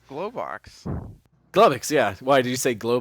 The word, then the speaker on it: Globox: Josh, did you want to say something about Glubbox? Glowbox.